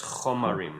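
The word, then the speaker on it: חֳמָרִם: It's a chataf kamatz, so it's chomarim.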